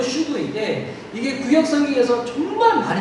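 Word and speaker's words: שוב: 발음은 슈브인데 이게 구약 성경에서 정말 많이 나오는 단어예요.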